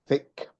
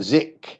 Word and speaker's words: thick: Can you write down thick thick thick? Write down in the chat box. Thick. Not zick. Not zick. Thick.